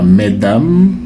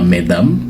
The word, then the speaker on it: mesdames: Ce n'est pas mes dames. Donc c'est une prononciation qui n'est plus acceptée depuis un certain temps. Donc on ne dit pas mesdames, on dit mesdames.